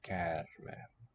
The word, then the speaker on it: käärme: Oh, kind of like our word charm. Snake charmer. Käärme.